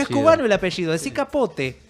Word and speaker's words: Capote: es cubano el apellido, decí Capote. O sea que tanto peleas por pronunciar bien todos los apellidos, pronunciame Sí, Capote como un también cubano.